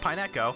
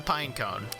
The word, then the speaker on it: Pineco: we'll give like a four pineco it's not pronounced pineco it's a pine cone it's pineco remember that uh it's a pine